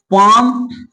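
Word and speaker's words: palm: है, तो बताइए कि अगर एल के बाद 4 लेटर है, क्या है, अगर एम आए या एफ आए या के आए या डी आए तो वहां पर एल का उच्चारण नहीं किया जाता।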